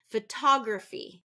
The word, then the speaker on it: photography: next one photography photography which syllable am I stressing photography so that one is going to be second syllable stress photography so if you notice griffy it's not graphy it's griffy because I'm reducing that syllable that is not stressed or emphasized next one lips stick